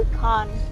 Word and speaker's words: Yukon: So, kita exit dari jalan raya utama menuju Yukon.